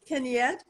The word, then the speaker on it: Kenyette: Kenyette, am I saying it right?